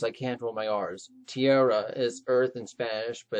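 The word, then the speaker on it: tierra: it wrong because i can't roll my arse tiara is earth and spanish but it's really tiara with the rolling guard but it's way too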